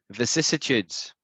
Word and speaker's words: vicissitudes: And you need to practice this word because it's very hard for non-natives to say it. I mean, it'd be impossible for a Spanish speaker to say it, you know, immediately, right? The word is vicissitudes. Vicissitudes. And now I'm going to say it really slow. Vicissitudes. Vicissitudes. Vicissitudes. Vicissitudes. Normal speed. Vicissitudes.